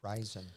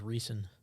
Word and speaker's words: Riesen: cool did you hear me on stat it's rising but we do i do pronounce it incorrectly like bad moon horizon so